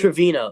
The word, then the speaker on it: Trevino: Here, they're going to have Trevino or Terino, whatever, how do you pronounce it? Trevino.